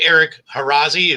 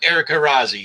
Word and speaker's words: Eric Harazi: But so we're joined by Eric Harazi. Is that how you say it, Eric? Correct. Yeah. Yeah, Eric Harazi.